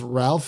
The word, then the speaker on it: Ralph: Taylor-Joy, Nicholas Hoult, and I've always thought it was Ralph Fiennes, but I thought is it Rafe Fiennes? Yeah, Rafe is what I've heard. It's interesting pronunciation for this Brit.